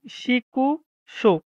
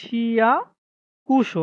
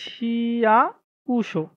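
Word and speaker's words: 市役所: তারপরে দেখি আ সা শি সরি শিকুশো, হুম? শি শিকুশো মানে কি? সিটি কর্পোরেশন অফিস বোঝায়। সরি উচ্চারণটা হবে শিয়াকুশো, হ্যাঁ? এই যে শিয়াকুশো যদি আমরা অর্ধেক বলি শিয়াকুশো মানে সিটি কর্পোরেশন অফিস বোঝায়।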